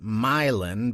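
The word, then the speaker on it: Moline: the decaying Berg of milin which locals pronounced milin before once more hitting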